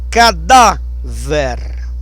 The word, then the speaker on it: cadáver: Cadáver. Ver. Cadáver. O forte é no dá.